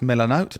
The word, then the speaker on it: Milanote: my next one yeah is I think it's pronounced milanote but it might be milanote m i l